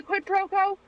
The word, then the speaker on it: quid pro quo: No, but is this a quid pro quo?